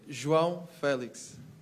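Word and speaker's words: João Félix: Your name, we apparently pronounce it wrong. Could you tell us how to say your name? João Felix.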